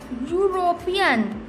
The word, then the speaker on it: European: So we pronounce it European. Okay, student, European. So we pronounced U. It means there is pronounced Y.